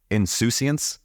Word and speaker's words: insouciance: It's like insouciance. Is that right? You pronounced it great.